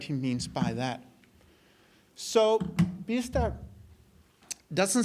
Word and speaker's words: Biesta: Professor called G biesta he's called in English but I do think the real pronunciation is bista in uh in Dutch and he argues that